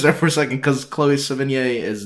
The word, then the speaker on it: Chloe Sevigny: younger woman, but Chloe Seven, how do you pronounce her name? Sevigny? Yeah, I think Chloe Sevigny looks younger in Spectre than Eva Green does in Casino Royale.